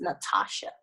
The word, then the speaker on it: Nathasha: in my name but there's a silent H after the deep the T so be like Natasha that's how it's spelled but it's pronounced Natasha anyone yeah cuz cuz